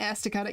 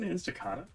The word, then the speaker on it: Estacada: Estacada? Estacada. Estacada. Estacada. It's Estacada. It's Estacada. Estacada.